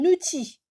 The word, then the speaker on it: outil: Un outil, j'ai pas prononcé le L.